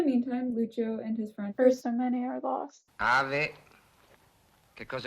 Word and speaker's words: Aristomene: Somehow while I was recording, I just forgot that Lucio's friend is named Aristomene and not Aristomene.